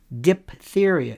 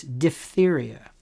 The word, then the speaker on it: diphtheria: How about people who say diphtheria? It's diphtheria. How about people say ophthalmologist?